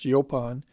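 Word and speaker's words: jupan: district of Lind a yopan pronounced yopon fizo is mentioned in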